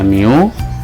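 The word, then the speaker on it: μ: Ini bacanya mu.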